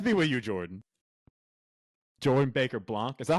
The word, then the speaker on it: Baker-Blanc: Baker-Blanc.